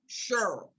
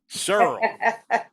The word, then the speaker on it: Cheryl: So is it Cheryl that rhymes with Pearl or Cheryl that rhymes with Carol? Girl, the pearl, the girl of the world. All right. Mrs. Morrow said Cheryl. Cheryl.